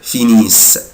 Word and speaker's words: finissent: il elle finissent mais je ne prononce pas ENT ومش بنطق ال ENT، بقولها كده finissent finissent.